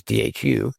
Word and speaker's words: Dhu: The name means beautiful view uh in Gaelic and and that's why it's spelled the way that it's not DW, it's du.